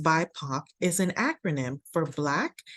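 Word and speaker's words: BIPOC: do something that affects our Behavior this term pronounced byac is an acronym for black indigenous and people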